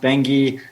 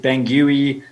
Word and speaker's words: Bangui: Yeah, so I think, like most South Africans, I couldn't pronounce the name Bangui. It's pronounced Bangui. I'd pronounced it Bangui.